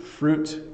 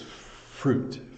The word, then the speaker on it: fruit: peach um so fruit fruit can be hard to pronounce because you want to make both these vowel sounds but you don't need to it's fruit fruit um you should eat